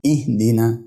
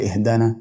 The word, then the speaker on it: اهدنا: ازاي احنا الايه بتقول اهدينا ايه اهدينا حرف الدال نكسور ما ينفعش اقول اهدانا او اهدنا بعدين الكلمه اللي بعد كده